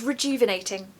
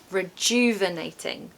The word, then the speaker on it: rejuvenating: Pronunciation tip, we've got a really important sound in the second syllable, and that is dew. Dew. Okay, that sound needs to come out. If it doesn't, it's not going to sound like the word. Rejuvenating. Rejuvenating.